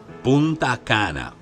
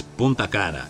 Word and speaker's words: punana: a loop around right punana it's punana it's not punan punana punana Jo Vio